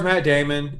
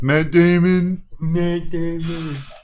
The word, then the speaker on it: Matt Damon: now I do stars Matt Damon and some other people you said it wrong it's Matt Damon dude if you haven't